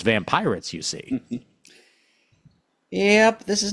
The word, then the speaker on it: Vampyrates: Vampyrates. Vampyrates! It's called Vampyrates. You gotta shout it. If you're not shouting it, you're saying it wrong.